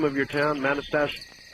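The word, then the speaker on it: Manastash: Uh, how do you pronounce the name of your town? Manastach. Oh. Oh, manast. Manastach.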